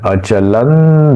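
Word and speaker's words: अचलं: ये एक संधि है अचलन ध्रुवन अचलन क्यों हुआ यह ध है त थ द ध न उसका अनुनासिक न इसलिए विसर्ग का सॉरी इस अनु जो अनुस्वार का उच्चारण न के जैसा होगा।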